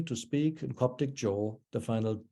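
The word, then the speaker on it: ϫⲱ: In Coptic, jo, the final D has gone away.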